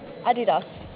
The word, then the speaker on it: Adidas: could you tell us what's the correct pronunciation for Adidas Adidas what's the name of the place the city